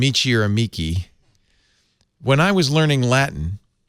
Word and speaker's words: amici: I said amici because that's the Italian or the church Latin pronunciation, but I think actually it's probably amici.